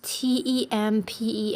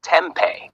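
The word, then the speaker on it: tempeh: How to pronounce t e m p e h. It's pronounced tempe. Tempe. The second syllable sounds like pay, not p.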